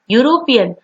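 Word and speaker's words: European: यूरोपियन, भले ही यहाँ पे लेटर ई है लेकिन उसका प्रोनाउंसिएशन क्या होता है, यू, तो उसको लगेगा आर्टिकल ए, और यूरोपियन।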